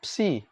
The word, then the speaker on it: psi: Psi sama ini bacanya psi.